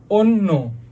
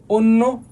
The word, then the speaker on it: অন্য: ভুল লিখছে তারপর তারপরে দেখো অ শুরুতে পরে যদি জ ফর যুক্ত ব্যঞ্জন ধ্বনি থাকে তাহলে কি হবে ভাইয়া? অ এর উচ্চারণ কিসের মধ্যে হবে? ও এর মত হবে। এটা তো জানি আমরা এর উচ্চারণ ওর মতোই হবে সবগুলাতে।